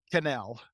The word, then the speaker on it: Quesnel: s n l and that's pronounced canel it's French Canadian I'm uh third generation